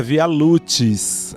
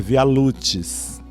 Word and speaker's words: Via Lucis: O nome é Via Lucis. É assim que se pronuncia, pelo amor de Deus, para a gente não sair pronunciando o latim errado.